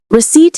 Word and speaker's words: receipt: Receipt has two syllables. We stress the second one. The P is silent.